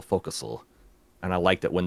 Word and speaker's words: forecastle: I got a little thrill when she pronounced forecastle focusal.